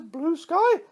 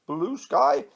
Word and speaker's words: Bluesky: It's not pronounced Blue Sky, it's Bluesky.